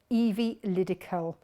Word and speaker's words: Evilydical: E-V-I-E, so Evie, and then Liddy, L-Y-D-I, and Callum, C-A-L, Evilydical, and that's the name of the fabric company.